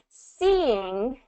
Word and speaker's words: seeing: Seeing, we kind of have this situation where it's two of those long E sounds, seeing. So there's a transition between one vowel sound and the other. Seeing. So you get that two-syllable pronunciation there. Sing, seeing. And hopefully you can kind of hear that two-syllable distinction.